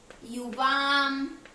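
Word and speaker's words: युवाम्: युवाम। ऊपर जो बिंदु आ रहा है इसको हम म का उच्चारण देते हैं।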